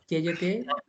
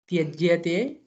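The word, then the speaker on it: त्यज्यते: Tyajate, tyajyatam. No. You are not pronouncing it right. Slowly. Tyajyate, tyajyatam. Tyajyatam. Gamyate, gamyatam.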